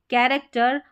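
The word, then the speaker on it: character: अब यहां पर देखिए सी एच को क भी पढ़ा जाएगा। सी एच को क पढ़ा जाएगा। यहां पर है केमिस्ट्री, कैरेक्टर और केओस। क्या हो गया? केमिस्ट्री, कैरेक्टर और केओस। इस तरीके से तो बड़ी-बड़ी स्पेलिंग्स में सी एच को क प्रोनाउंस कर रहे हैं।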